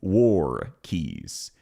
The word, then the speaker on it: walkies: Listen to how she says walkies. Here is how you would pronounce it. Walkies. Waries. You say it more like war keys. As in if you're going to war over a set of keys.